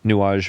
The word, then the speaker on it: nuage: Nuage means it's it it's spelled almost like new age n u a g e in French it means cloud.